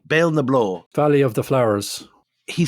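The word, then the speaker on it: Béal na Bláth: And he passes through some towns and reaches an isolated crossroads at, you have to pronounce is it Bale and Blath? Bale na Blá. Bale na Blá.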